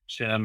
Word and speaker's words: SIEM: And it's a very positive thing for Security Information Event Management or SIEM (pronounced SEEM) or SIEM (pronounced SIM) I've, I've had a couple of people telling me, correct me, different ways.